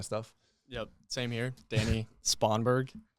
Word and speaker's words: Spongberg: Danny Spongberg. Spongberg is how you pronounce it. The way you spell it, sponge without the E, and then BERG.